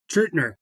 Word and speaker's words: Truettner: I've got the amazing Charles Truettner. Did I pronounce that correctly? Truettner.